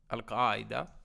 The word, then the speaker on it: Al-Qaeda: that it was from Al-Qaeda or if you want to say it correctly Al-Qaeda was that correct yes